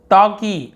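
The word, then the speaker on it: talkie: टॉकी, L silent होता है, टॉल्की नहीं पढ़ी, टॉकी।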